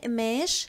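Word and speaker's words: قماش: And as you know, in Lebanese, mostly we do not pronounce the letter qa. So we do not say the qaf letter. We swap it for the glottal stop. So we say mesh, mesh, otun.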